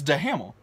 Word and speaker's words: Duhamel: You just added 10 different syllables to that. Duhamel. Duhamel? It's Duhamel. It's Duhamel.